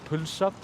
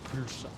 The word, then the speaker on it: pulsa: or in the countryside, they say pilsa, and that is with a Y. It's a slightly different way to say it. It's often considered as like the correct way to say pilsa rather than pulsa, although in city of Reykjavík we always say pulsa.